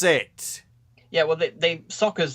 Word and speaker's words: Sokka: Yeah, well, Sokka's name is pronounced Sokka, and Uncle Iroh is pronounced Iroh.